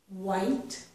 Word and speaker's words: white: voiced th sound okay white white and we don't pronounce that H okay rhinos this say